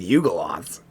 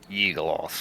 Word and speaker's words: Yugoloth: got some problems with Yugoloths. Yeah. the Eagleoth hunter. Yugoloths. Right. Yeagoloths. You're hitting that U a little bit too hard. Yeah. Yugoloth.